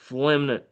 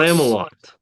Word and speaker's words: Familant: Flemnet. Okay. Yeah, you butchered it. No. Yeah. Uh, Famalant. Close. Famalant. Yeah, there you go.